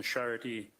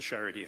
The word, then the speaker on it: Charité: That was in East Berlin as well, on the Charité University Hospital. And can you spell that for the stenographer? Charité is a French word, and Charite with a dash above the E.